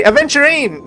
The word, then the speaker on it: Aventurine: I can actually finally say his name correctly aventurine not I now I actually remember instead of